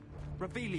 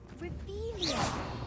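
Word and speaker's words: Revelio: looking in the first place where are you revelus you're saying it wrong rious much better oh shut up wait AO he's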